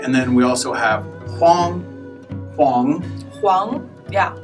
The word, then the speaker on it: Huang: Okay, and then we also have Huang. Huang. Huang, yeah. H-U-A-N-G. Huang, yeah. Huang actually means yellow, but it's a surname in China too, so Huang.